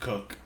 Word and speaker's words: Koch: The Koch is pronounced Cook. Oh, my bad, dude. Jake Cook.